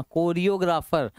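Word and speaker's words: choreographer: जाता है कैलीग्राफर और कोरियोग्राफर इसको चोरियो मत पढ़िए कोरियोग्राफर जो सोंग्स के स्टेप्स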